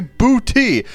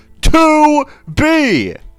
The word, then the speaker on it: 2B: me you know also people pronounce her name wrong all the all the time they say boty it's 2B to B God God just disgusting